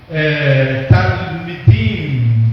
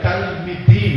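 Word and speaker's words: תלמידים: E da mesma forma o L, de talmidim, que em hebraico é o discípulo. A palavra discípulo em hebraico é talmidim, no caso discípulos. Talmidim, então é pronunciar, né?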